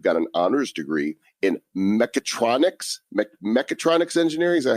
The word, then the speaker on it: mechatronics: And also, you've got an honors degree in mechatronics engineering. Is that how you pronounce that?